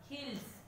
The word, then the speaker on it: hills: Hills. Hills. Hills. Hills also ending with S letter, but it sounds Z. Okay, hills. So seventh one also sounds like Z.